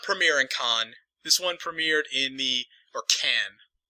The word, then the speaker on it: Cannes: This one did not premiere in Cannes. This one premiered in Cannes. I'm not sure if it's Cannes or Cannes. French again. C-A-N-N-E-S. The E-S is silent.